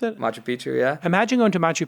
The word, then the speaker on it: Machu Picchu: Is that how you pronounce it? Machu Picchu, yeah.